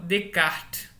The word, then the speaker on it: Descartes: lei de Snell-Descartes e que não se fala Descartes, né? Como o René é francês, o S é mudo, tanto da primeira sílaba, tanto como da última. Então, se fala Descartes, certo?